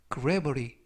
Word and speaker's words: gravity: 이때 유의하실 점은 알파벳 T가 부드럽게 트가 아니라 르, 그래서 gravity 라고 발음하시면 되겠고요.